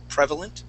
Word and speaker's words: prevalent: I don't know if you've heard that word before yet, but yes, the accent goes at the very beginning. Prevalent.